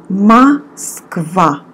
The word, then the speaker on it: Москва: And the letter О we pronounce like А. Москва.